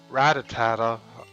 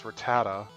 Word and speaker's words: Rattata: it's a stupid rat Rattata I used to convert ratatata I don't know why I did that cuz I saw how you say it's Rattata should I do a